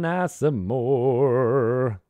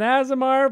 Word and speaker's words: Aasimar: You're an Asimor. That's not how you pronounce it. Asimor? No, it's an Aasimar Paladin.